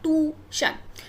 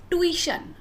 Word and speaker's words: tuition: No, it's not tuition, it's tuition, tuition, tuition, okay.